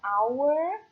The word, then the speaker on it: hour: O H é mudo, então hour, tá?